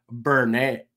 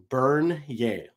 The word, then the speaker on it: Bernier: Number article and selected by me is Jonathan Bernier. Oh boy. Bernier. There we go. I had to phonetically spell this out.